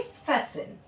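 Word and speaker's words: fasten: एस टी ई एन अगर है लास्ट में वर्ड के किसी एंड में तो वहां पे टी को प्रोनाउंस नहीं किया जाएगा। वहां पे किस तरह हम पढ़ेंगे? फैसिन लिसन, मोइसिन, हसन। ठीक है? टी को हम साइलेंट रखेंगे।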